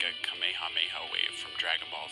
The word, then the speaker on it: Kamehameha: Some have pronounced it as Kamehameha or Kamehameha, and others have said Kamehameha.